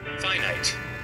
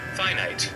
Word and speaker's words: finite: Kining, oy, kuhan, ga-syllable siya sa fee tapos night. Try pronunciation. Finite. Finite. Oh, finite.